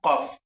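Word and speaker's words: كاف: সঠিক উচ্চারণ কি? ফা ফা ফা ফা এর পরবর্তী শব্দ দেখেন এই দেখেন এই হরফটার নাম কি এই হরফট নাম হলো কফ কফ দুই নক্তাওয়ালা কফ যেটাকে আমরা বড় কফ বলে চিনি কাফ কাফ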